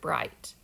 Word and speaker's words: bright: So I know it says I, and I'm going to cross out the G and the H. Okay? Mom and Dad probably didn't know how to code that, but they knew how to say the word and read the word bright.